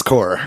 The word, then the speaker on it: corps: Because it's corpse, but it's not corpse, it's core.